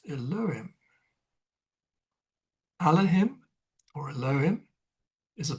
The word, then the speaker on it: Elohim: the Hebrew name for God is Elohim, nowadays pronounced and spelt Elohim.